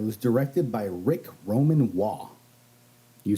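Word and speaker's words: Waugh: uh it was directed by Rick Roman wall you said it right I did not walk because it is spelled w-a-u-g-h yeah WAFF uh we'll poop too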